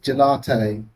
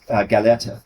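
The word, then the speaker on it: Gallerte: I have to correct the pronunciation. It's the word is galetta. Galetta was Marx's original German word.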